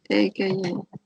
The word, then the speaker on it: AKA: And you pronounce it Eka? AKA. AKA. Exactly, yeah.